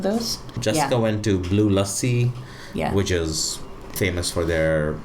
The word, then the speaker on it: lassi: This is one of the most mispronounced words in Hindi that I have heard is, oh yeah, let's get a mango lassi. It's it's not a lassi, it's a lassi.